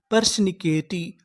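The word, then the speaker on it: persnickety: टी तो हमारी पूरी मीनिंग क्या बनी परशिकेटी पर्सनिकेटी परिकेटी पर्सनिकेटी का मतलब होता है नकड़ा क्या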